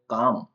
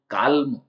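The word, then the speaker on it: calm: अब एल है वो काम काम इस स्पेलिंग में एल साइलेंट है काम का मतलब होता है शांत तो इसको हम कालम कालम ऐसा नहीं बोलते इसको बोलेंगे काम एल साइलेंट है इसके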